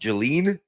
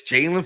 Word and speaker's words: Jaelan: It's spelt like it's almost it's spelt like it would be pronounced Jelene, but it's Jaylen Phillips coming to the Philadelphia Eagles again.